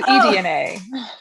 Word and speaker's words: Edna: next step i'm not how do you pronounce it dna is it donna danae danae i'm sorry i have to retype my name oh okay edna so it's edna that's why you're probably